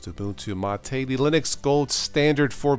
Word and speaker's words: MATE: a look at the latest booboo to mates pronounced to go to Mattei the linux gold standard for beginners the flagship